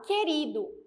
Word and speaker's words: querido: LH ch keo Egeo Lembrando que para o que o e para o g u tem que ser imperceptível na pronúncia aqui eu falo querido querido quer eu tenho